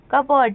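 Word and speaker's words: cupboard: जैसे कि मैंने बताया पी साइलेंट है तो पी को नहीं पढ़ना है, तो पी को नहीं पढ़ेंगे तो कब बोर्ड, कपबोर्ड, कबर्ड क्या कहेंगे हम, कबर्ड।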